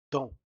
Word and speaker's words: dans: Ahora aquí sí que llegamos a pronunciar k, donc, y este dans, la S únicamente cuando hay una preposición, cuando hay un article indéterminé dans un, dans une, sino es dans.